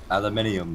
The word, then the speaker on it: aluminium: Aluminium. Yeah, aluminium is how you say it, you absolute banana.